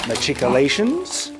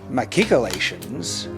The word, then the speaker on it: machicolation: - Now I've always done makikolations, but apparently the young folk these days are saying machicolations- - This word came probably from medieval, Middle French- - The pronunciation machicolation seems to be the most proper, but I still have a lot of data- - The murder-holes- - Huh?